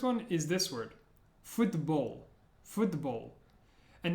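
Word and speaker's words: футбол: is this word football foot Bowl and notice at the end of the word the L Sound is like o in the back of the throat foot the bowl foot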